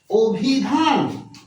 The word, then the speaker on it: অভিধান: যার কারণে এই অটাকে আমরা কি উচ্চারণ করতেছি? আমরা ও উচ্চারণ করতেছি।